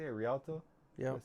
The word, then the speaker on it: Rialto: Oh, that's how you say it, Rialto?